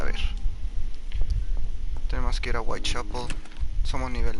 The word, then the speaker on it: Whitechapel: Whitechapel, sí es Whitechapel. Sí estaba lo correcto, sí se pronuncia.